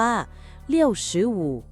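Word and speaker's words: 六十五: ว่า 6 10 5 ภาษา จีน ก็ อ่าน เรียง แบบ คำ อ่าน ภาษา ไทย 6 คือ เลี่ยว 10 คือ ฉือ 5 คือ อู่ 65 ใน ภาษา จีน จึง ออก เสียง ว่า เลี่ยวชือวู ตรง กับ คำ อ่าน ภาษา ไทย เลย จ้า อ๋อ แบบ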